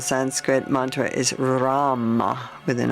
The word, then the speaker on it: Ram: in your solar plexus area and the one syllable Sanskrit Mantra is Ram with an R Ram r r breathing